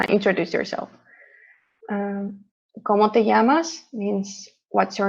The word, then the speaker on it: llamas: lot of double l uh we pronounce it as a ye so it sounds like como te llamas here um it doesn't sound like an l so yeah double l sounds like uh yeah like saying yes mucho gusto you say